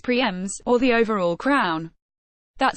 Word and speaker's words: primes: line to claim single lap prizes called primes pronounced Prix MS or the overall crown that same course that